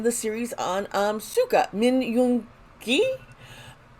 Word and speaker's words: Yoon-gi: And today we are in the series on Suga, Min Yoon-gi. Americans have the G sound more like a G, and I realize in Korea it's more of a K sound.